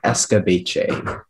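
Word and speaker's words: escabeche: a sweet and tangy sauce and the only pronunciation is escobache can you please repeat the language of origin escobache he escape j that is correct next speller speller 1 14.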